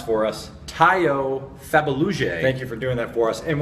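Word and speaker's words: Tayo Fabuluje: tackle from TCU, whose name you're going to pronounce for us. Tayo Fabaluje.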